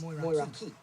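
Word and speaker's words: Moeraki: Moraki is pronounced as Moiraki. Here's the breakdown. Mo. Okay, so it said Moraki is pronounced as Moiraki. It looks like it would be more like Moiraki, doesn't it?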